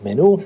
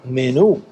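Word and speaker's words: menú: So, I replied to this guy, "Hi, in Spanish it's menu." because there's like an accent over the U. So you stress that letter menu.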